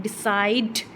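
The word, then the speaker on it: decide: इसको प्रोनाउंस करते हैं तो लास्ट वाला सी साइलेंट है लास्ट वाला सी हम नहीं बोल रहे हैं डिसाइड डिसाइड लास्ट वाला ये नहीं बोला जा रहा है तो इसमें कितने सिलेबल्स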